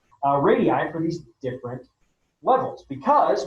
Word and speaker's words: radii: to figure out approximate radiuses or radii that's the right way to say radii for these different levels